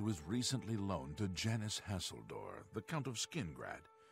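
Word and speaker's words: Hasildor: little bit bummed that this guy's name is pronounced hasseldorf I was hoping it would be a seal door so I could be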